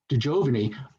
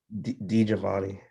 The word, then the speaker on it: Di Giovanni: DeJovany. I'm pronouncing your name correctly, aren't I? No, you're not. Oh, Jesus. How do you pronounce it? Di Giovanni.